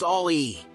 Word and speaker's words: Ami: hot rod Hobby citran Ali the Citron Ali pronounced Ali is a revolutionary Concept in the world of